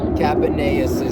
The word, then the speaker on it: Capaneus: Capaneus' son.